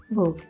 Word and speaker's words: weigh: कई बार नहीं T आता फिर भी लास्ट में GH जो है वो साउंड नहीं करता।